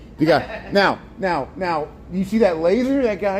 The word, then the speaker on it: Degas: Degas.